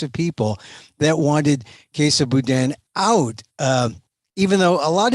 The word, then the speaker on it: Boudin: Tell me who Bonta and the Bowden, how do you pronounce it? Boudin? Boudin.